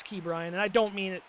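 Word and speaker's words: Ke'Bryan: I know I kept saying his name wrong. I didn't mean to in the earlier episodes like I was saying Kabrian. I know that's it's Key Brian and I don't mean it to be like a backhand.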